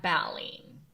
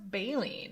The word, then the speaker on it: baleen: whales in school and whales had balling and i said i think it's pronounced baleen and she was like